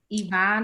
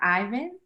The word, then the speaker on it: Yvonne: And is it Yvonne or Ivan? It's Yvonne. You said it right the first time.